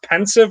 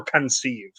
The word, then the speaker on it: Pensieve: visions when you're in the pen is it pronounced pensive or Pensieve pensive I believe is I think yeah I've never